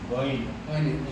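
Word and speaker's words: غين: একেবারে অর্চনা করেন কি গাইন গা গাইন সহজ ভাবে গাইন গাইন গাইন গনে গা একটা উচ্চারণ করি এটা একটু জোরে এটার জন্য একটু জীব একটু পিছনে লাইন সহজ হবে আরামে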